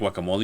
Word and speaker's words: guacamole: But when you make guacamole, you can kind of be like, oh, let's make it a little how you say it.